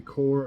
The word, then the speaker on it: Corps: core the US Army Corps of Engineers it says c-o-r-p-s but I know it's not pronounced like that uh of Engineers taking